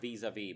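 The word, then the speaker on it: vis-à-vis: and Happiness visitors ethics I think it's pronounced visa vie but I'm not the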